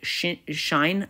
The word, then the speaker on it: sinh: So this is a new function pronounced sinh of x, or some people say shine of x. So there's many ways of pronouncing it, but I like to say sinh, feels cooler.